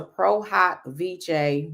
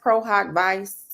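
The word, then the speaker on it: pro hac vice: prohawk VJ me in now everyone says prohawk Vice but a lot of stuff in the legal land is Latin so it's not going to be necessarily pronounced as how we will pronounce other words so it's prohawk V some people say vich prog VJ and it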